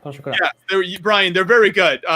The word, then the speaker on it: pain au chocolat: No, how are they pronounced in French? Oh, pain au chocolat. Pain au chocolat.